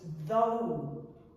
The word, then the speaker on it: though: Dough is another common word, and it's dough, pronounced in that way. And another one is though.